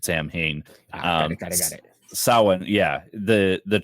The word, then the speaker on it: Samhain: You said Samhain, so I'm like, wait, are we talking about the actual? That's how the English people pronounce it, Samhain.